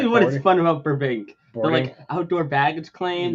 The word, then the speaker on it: Burbank: Hello, Burbank. Is that how you pronounce that?